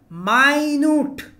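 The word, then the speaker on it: minute: তারপর আছে দেখুন মিনিট, এটা সবাই জানি ঘড়ির সময়, আর এটা আছে আপনার মাইনুট, উচ্চারণটা হবে কি আপনার মাইনুট, মানে অল্প বা সূক্ষ্ম, সূক্ষ্ম বা অল্প হচ্ছে মাইনুট।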